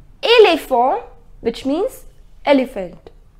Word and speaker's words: éléphant: It is not E. It is E. Éléphant. The pronunciation is éléphant.